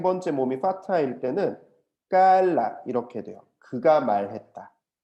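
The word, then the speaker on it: قال: 이게 왜 그러냐면 와우는 약한 발음이기 때문에 자기의 모양을 지키지 못하고 무너져 버리는 거예요.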